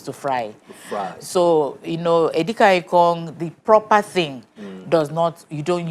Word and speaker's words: Edikang Ikong: Edikang ikong. That's the right pronunciation. Edikang ikong. Yeah. Edikang means. We don't say edikakong. Edikaikong. So this is edikang ikong.